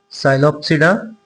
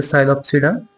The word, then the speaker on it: Psilopsida: The first is Psilopsida. The P is silent, the Psilopsida.